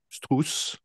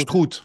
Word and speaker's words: Struth: une peinture qui s'appelle Strauss. Est-ce que je prononce bien? Strout. Strout, ouais, en allemand.